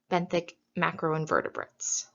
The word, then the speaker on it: benthic macroinvertebrates: rest of this presentation benthic macroinvertebrates so what are benthic macroinvertebrates it is a big term and if you need help pronouncing it you can say it as been thick Mac Roe in vertebrates so let's break down